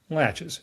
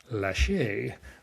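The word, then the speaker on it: laches: Latches rhymes with latches like a door latch. Even though I was in a hearing one time in Atlanta where a federal judge said it is pronounced lache with a French accent, which does sound fancier.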